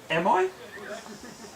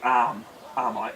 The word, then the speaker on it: Arai: May Maya Marshall arai everyone pronounces it am I when it is actually arm AR I and anyway when I've